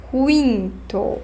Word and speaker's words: quinto: Scritta uguale, ma pronuncia un po' diversa del portoghese, sì? Quinto. Pronuncio la U sempre. Sesto.